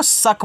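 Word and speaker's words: suck: इसको शक पढ़ेंगे तो यहां पे केवल एस से आपका स होगा यहां पे जो सी के है यानी कि ये दोनों साइलेंट रहेंगे के से आपका का हो जाएगा ये आपका शक हो गया और शक का मतलब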